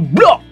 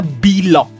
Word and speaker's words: BLOG: Nah, sekarang ada lagi IPO baru nih kita akan bahas, yaitu Blok. Bukan Blok gitu ya bacanya guys ya, tapi perusahaan itu namanya Bilog. Nah, Bilog bukan Blok.